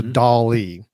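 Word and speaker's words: DALL-E: So on that same open AI website, they also have a service that is called Dolly, just like Salvador Dolly, but it's spelled D A L-E or E. So Dolly.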